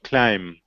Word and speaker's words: climb: cross not column row ah ruh okay climb are you saying to be no climb good and thumb good bombardment